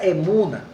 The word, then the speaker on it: emuna: Es una palabra que en el hebreo se pronuncia como, bueno, en el hebreo significa emuna, es una traducción, pero su significado es firmeza, seguridad, fe, honradez, lealtad, verdad.